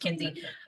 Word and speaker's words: McKenzie: McKenzie McKenzie right you can drop the Mac the Mac is silent right it's just Kinsey um Kinsey uh most